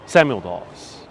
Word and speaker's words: Dawes: this poem hey kids take a pause because tonight we're going to talk about william dawes daws then samuel dawes would